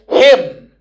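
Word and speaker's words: hymn: This is pronounced as him. And this Y has got sound E.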